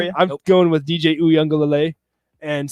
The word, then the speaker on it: Uiagalelei: I'm going with DJ Uiagalelei and saying that Clemson gets it done.